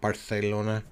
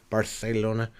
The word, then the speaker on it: Barcelona: Madrid and Barcelona Valencia Barona sorry I will add in the proper pronunciation Barcelona I've been to Barcelona